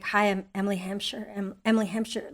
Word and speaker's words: Hampshire: go like hi Emily Hampshire Emily Hampshire like you don't think of pronouncing your own people get H wrong yeah they Hamshire oh I don't care